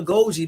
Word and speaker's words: goji: or try something new like Gucci berries a Goji berries g o j i okay I like